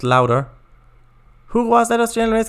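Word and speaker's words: Lauda: Nicky Lauder? Pronounced louder.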